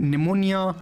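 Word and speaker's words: pneumonia: एंड इसी तरह एम में भी देख सकते हैं साइलेंट वर्ड है, निमोनिया।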